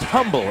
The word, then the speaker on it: Humble: The H is silent.